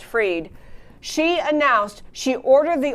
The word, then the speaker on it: Fried: A woman ag commissioner in Florida named Fried, or Freed, F-R-I-E-D, is probably pronounced Freed.